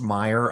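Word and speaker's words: Meijer: What is Mayer Mayor? What is that? I think it's pronounced Meyer I think.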